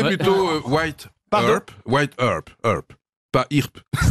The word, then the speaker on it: Earp: Wyatt Earp, Virgil Earp et Morgan Earp sont trois frères, les frères Earp, bah en oui, quelque sorte.